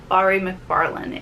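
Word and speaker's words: Mhairi McFarlane: It's Don't You Forget About Me, and this is, I've been pronouncing her name wrong all along. It's Bari McFarlane, and this is about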